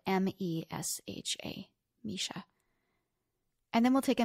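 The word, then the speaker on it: Mesha: Instagram at my friend Misha and my name is spelled m-e-s-h-a Misha and then we'll take a minute on our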